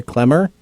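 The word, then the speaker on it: Klemmer: spell my last name my name is pronounced clemmer but that's fine just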